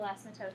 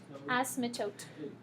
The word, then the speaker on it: asymptote: So it would be the x values from the vertical asymptote that you want to pick. Sam? Wait, you say, how do you say that word? Asymptote.